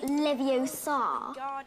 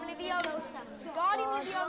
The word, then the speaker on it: Leviosa: Besides, you're saying it wrong. It's Leviosa, not Leviosa. You do it then if you're so clever. Go on, go on. Guardian Leviosa.